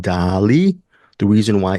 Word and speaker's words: Daaaaaalí: But the way this movie is spelled, it's Dali, not Dali. It's D with 6 A's, Li. Accent on the I.